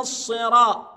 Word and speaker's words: الصراط: الطريق المستقيم اهدنا الصراط شفت الصاد صد ولا س حضرتك هتجاوب لي لا هي صاد في المصحف مكتوبه صاد يبقى الص اص اوعى تنطقها السي بعض الناس ينطك الرا لا انت بتقرا لحفظ اهد نص يبقى الصاد صاد اهدنا الصراط طا فتحه